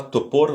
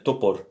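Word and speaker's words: топор: Pardon, c'est pas topor, mais topor. Comme je vous ai dit, l'accent est sur le premier O, le deuxième O est prononcé comme un A faible.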